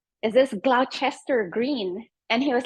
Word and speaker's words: Gloucester Green: It is that stop you wanted, but it's pronounced Gloucester Green.